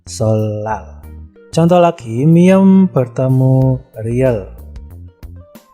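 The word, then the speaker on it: 설날: Nah, di situ ada sol nal, ya, niennya berubah menjadi riel dan dibaca solal.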